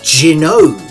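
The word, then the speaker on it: Gaiares: the last 20 years I've been calling this game gyo only to find out just a few days ago when preparing this video that it's pronounced jog if the Japanese title is anything to go by and it usually is huh well this is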